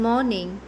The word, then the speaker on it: morning: first word is morning in morning the letter R is silent the next word is